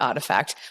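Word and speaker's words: RTFKT: So if you look at Nike, they bought Artifact, which is a company that makes nets. I actually how embarrassing because I saw that they bought those obviously announced and everything they've bought Artifact, which is spelled something like r t f K Taylor.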